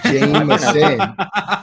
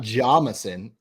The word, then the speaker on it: Jameson: It's Jameson. His name is Jameson, not Jamison.